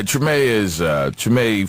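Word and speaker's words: Treme: It's, how you pronounce it? Tremaine? Tremaine.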